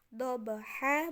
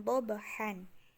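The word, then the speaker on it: ضُحَاهَا: Jadi kayak tadi dobaha bukan dobahan. Seperti itu.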